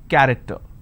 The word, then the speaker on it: character: each Nation its present character so you see the word character I have the letter CH and it's pronounced as c i don't say character